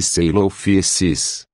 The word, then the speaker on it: Coelophysis: É verdade que Coelophysis, pronuncia-se Coelophysis, não é um nome